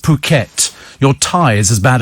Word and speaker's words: Phuket: Apparently it's pronounced Phuket.